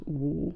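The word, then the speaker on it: 五: Like 5 is pronounced woo, like woo.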